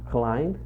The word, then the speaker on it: climb: Então, climb, essa pronúncia do climb, você não vai falar o B, você vai fechar a boca no M.